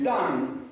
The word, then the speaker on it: Don: freggi la tribù di Dan i Danesi il fiume Don pronunciato Dan il danubium che significa